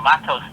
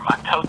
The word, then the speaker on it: Matot: So this week's Torah portion, a double Torah portion, a double whammy, the Torah portion of Matos and Masai, or Matot and Masai if you're a Sephardic pronunciator.